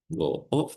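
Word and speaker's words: を: Jadi emang dari sananya dibacanya itu o ya. Jadi walaupun ditulisnya itu wo ya, tapi dibacanya tetap o ya, minasang ya.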